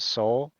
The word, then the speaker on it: Sowell: It's pronounced Soul.